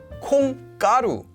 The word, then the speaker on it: 콩가루: So we have 콩, beans, 가루, powder, 콩가루. Notice the pronunciation is there from combining the words, but it doesn't happen in spelling because there would be no way today to write it like that.